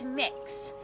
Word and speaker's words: Mix: name is mix k it's mix so kind of like cookie mix or mixing bowl that sort of thing that's how it's pronounced that is my name